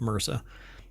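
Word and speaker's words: MRSA: fight against Mera uh MSA um but it's typically pronounced Mera by enhancing vaccine efficacy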